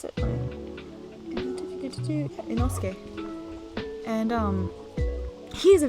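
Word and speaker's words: Inosuke: struggles and then you have enosuke so i pronounce it enosuke and um he is a very stereotyped like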